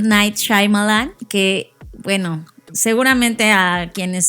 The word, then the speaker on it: Shyamalan: Yo ya vi cómo él se presentó a sí mismo y es Shyamalan. O sea, Shyamalan.